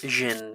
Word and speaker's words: jinn: Jinn. It is pronounced Jinn.